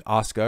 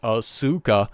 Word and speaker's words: Asuka: being bitter about WWE booking Asuka or as he pronounces it auka which to be fair mispronounce the name but okay if they're